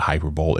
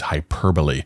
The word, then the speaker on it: hyperbole: It's not hyperbole, it's hyperbole.